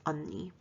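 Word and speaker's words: 언니: there's another word for older sister and it's unni the second word is who and it's pronounced and the last word is age it's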